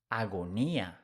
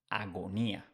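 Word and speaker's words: agonía: I a Agony becomes agonia agonia here is important that with g is followed by O U or a you pronounce the same as in English Agony agonia let's see another example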